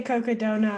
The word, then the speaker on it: Cocodona: Now I heard you say Cocodona a couple times. That's the correct pronunciation of it. I think Cocodona. so. Okay. I think it's like Coconino County and Sedona mixed together, like Coconino and Sedona, Got it.